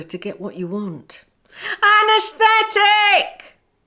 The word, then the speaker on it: anaesthetic: get what you want anesthetic say ah nurse tick again say ah nurse